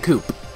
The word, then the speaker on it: coop: Is this a chicken coop? Is the P in coop silent? I feel like it's always pronounced chicken coo. No, it's chicken coop.